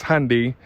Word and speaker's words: Hyundai: this is the 2020 Hundai or some pronounce it as handy handy Sonata put a